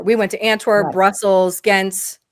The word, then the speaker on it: Gent: We went to Antwor Brussels Gent Yent is how is that is that how it's pronounced? Kent.